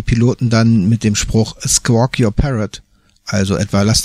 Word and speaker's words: squawk: Auch hier haben wir wieder das nette W mit drin und wieder dieses umgedrehte C. Dieses Mal lang gesprochen und es ist also kein O und es ist auch kein A, es ist eigentlich so ein Mittelding zwischen O und A.